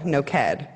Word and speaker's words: Noked: okay it's no kite it's like naked with an O no CAD and this is here is on the end of Allah on the end of the word it's like the last syllables okay naked with